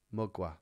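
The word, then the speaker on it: Mgła: Mugwa, that's how you say it.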